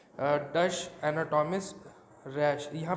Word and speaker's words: Ruysch: तो एपिथेलियम यहाँ पे देखिए, एक मैंने लिखा है डच एनाटॉमिस्ट रैश. यहाँ पे स्पेलिंग मिस्टेक है. This is RUYSCH, right. RUYSCH. रूश नाम है, राइट.